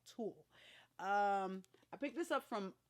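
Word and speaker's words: TUL: I think it's how you pronounce it, Yule or Tool. I'm sorry, Tool. T-U-L. Tool.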